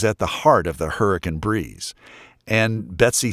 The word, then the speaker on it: Hurricane: We pronounce it hurricane.